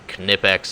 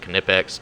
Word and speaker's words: Knipex: their master four series some canipex over here which is fantastic yes it's pronounced knipex don't come at me with that watch a